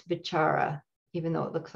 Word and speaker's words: vicāra: companion that the called the chara which is v-i-c-a-r-a and there's a long accent over the first a the c in poly words is always pronounced ch so it's bachara even though it looks like vicara but it's